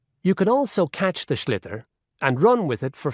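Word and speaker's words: sliotar: this ball called a schlitter that's s-l-i-o-t-a-r so it's not spelled the way it's pronounced you his ears into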